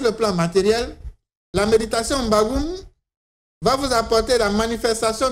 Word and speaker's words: M'Bagu'Um: Mbagoum s'écrit comme suit. M apostrophe B A G U apostrophe U encore M. Ça se lit Mbagoum.